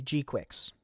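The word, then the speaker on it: G-Quuuuuux: Yeah, and then if you pre-register for the game, you will get the G-Quicks, which, by the way, is how you actually pronounce it.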